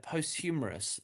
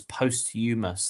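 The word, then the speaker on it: posthumous: Most common mistake is the h sound, but it's silent. So, it's postumus.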